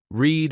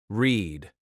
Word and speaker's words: read: Read is spelled the same in past and present, but the sound changes. Present, read. Past, read. Same letters, different sound.